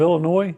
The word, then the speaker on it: Illinois: It's Illinois. They don't. Yeah, the S is silent.